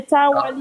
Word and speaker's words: Traore: No, because the problem is I don't pronounce it the French way. I pronounce it the English way. In my country, we say Traore.